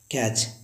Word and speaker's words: catch: Guys जब कभी TEN या TCH आए तो इसमें टी हमेशा साइलेंट होता है। जैसे लिखा होता है LISTEN, इसे पढ़ते हैं हम लोग लिसन, क्योंकि लास्ट में TEN आया हुआ है। इसे लिसन का अर्थ होता है सुनना। अब बात करते हैं CATCH, कैच, कैच मैंने पकड़ना।